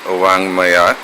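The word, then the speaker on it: ವಾಙ್ಮಯ: It is pronounced as Nya, a combination of N and G. It is used in writing a word like Wangmaya, meaning literature.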